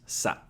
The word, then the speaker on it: さ: How to pronounce さ? さ is pronounced like ‘sa’ in ‘salsa’ How to remember さ?